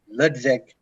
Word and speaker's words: Ludwig: Well, it's not actually it's supposed to be like Ludwig, but it's the Dutch Ludwig.